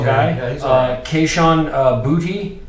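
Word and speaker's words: Boutte: he's uh Keyshawn uh booty is actually how you pronounce that booty which is funny LSU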